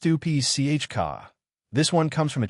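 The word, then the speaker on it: Stupice: Tomato 16, Stupis. Pronounced Stupi Chka.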